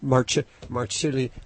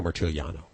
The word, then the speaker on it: Marciuliano: How do you pronounce his last name? I've got a Marciuliano. I really messed it up last time, so I'm gonna practice before he gets on the air. Francesco Marciuliano. There.